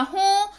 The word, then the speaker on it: हैं: तो यहां पर बिंदु लगा हुआ है तो इसका उच्चारण भी, इसमें उच्चारण में हल्की न का जो है भाव आएगा, दैट इज हैं।